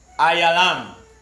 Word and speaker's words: Elam: know salafi yeah so the pronunciation of the hebrew for elam will be ayalam you understand and to